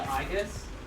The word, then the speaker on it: Aegis: So probably the Aegis? Yeah. Well, I mean in like Greek. I was right, Aegis. Okay. Well, Aegis, because the stress is on the ultimate syllable.